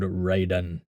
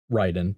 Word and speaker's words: Raiden: elder god known as lord raiden which is still ryden but we we'll we'll stick with the game's pronunciation uh played by thor's